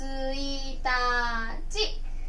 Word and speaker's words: 一日: 1 日ですね。